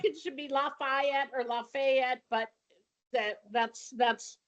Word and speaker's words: Lafayette: So I'm just letting you know that even though there's an A after the F, it is pronounced Lafayette if you want not to get dumped on by people who've lived there a long time.